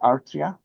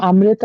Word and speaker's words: Amrita: Artria? Artria? Yeah. Yeah, I'm Amrita, actually.